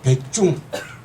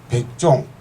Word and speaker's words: 백중: 알고 있습니다 우리가 참 백중 백종 여러가지 발음이 있지만 불교 용어로서는 백중인 정확합니다 백종할 때는 농사 지으면서